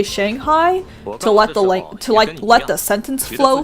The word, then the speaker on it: Shanghai: Yeah, like for example, oh, Shanghai is the biggest fucking example of this because Shanghai is not how you pronounce it in Mandarin. Mandarin is Shanghai.